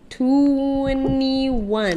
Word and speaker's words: 2NE1: 2NE1. That's how it's spelled, entry. but it's pronounced 21.